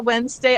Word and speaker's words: Wednesday: In my head, when I spell Wednesday, I say Wednesday. Yeah. To help me remember. Or library. And I make sure I overpronounce the R in library or the D in Wednesday Uh-huh.